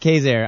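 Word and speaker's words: Quezergue: He uh Kazair. It's spelled Kurtzig, but I say, but it's pronounced Kazair.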